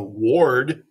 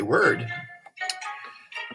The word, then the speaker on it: word: in learn it's er word that's an o-r but we say er don't we we don't go ward we say word bored or or and